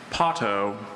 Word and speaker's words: potto: Pato, can you repeat all the information, please?